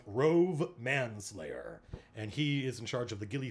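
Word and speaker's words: Rhuobhe Manslayer: It's pronounced Rove Manslayer.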